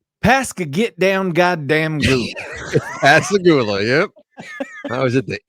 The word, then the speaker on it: Pascagoula: Pascagoula.